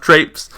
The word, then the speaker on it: Traipse: So, it's pronounced Traipse.